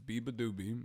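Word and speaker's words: beabadoobee: Biba doobie excuse me I've had trouble figuring out how to say her name her name is Biba doobie so Bieber doobie opened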